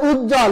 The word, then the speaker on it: উজ্জ্বল: করে বলে দেওয়া হচ্ছে সে ব এর কোন উচ্চারণ হবে না সেজন্য উচ্ছ্বাস দ্বন্দ উজ্জ্বল এখানে কোথাও ব এর উচ্চারণ হয়নি তাহলে আমরা কয়টা নিয়ম